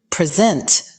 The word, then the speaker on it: present: However, as a verb, present is pronounced with the stress on the second syllable, like in the sentence, he will present his findings at the conference, showcasing months of diligent research.